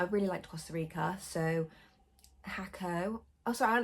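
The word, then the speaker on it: Jacó: did it's called it's spelt jacko but it's pronounced hakko uh puerto vejo pinto over and not here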